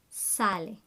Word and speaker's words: sale: Sale. Make sure you pronounce all the vowels.